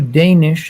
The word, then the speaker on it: Danish: uh we'll go to danish until salman unmutes himself welcome danish uh uh i'm danish uh that's how you pronounce my name but um no it's